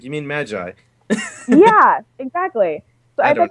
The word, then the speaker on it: Magi: Because as soon as you said Moggy, I was like, you mean Magi?